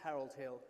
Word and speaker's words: Harold Hill: I mean, poor fellow, he can't even pronounce Harold Hill. The H is actually silent.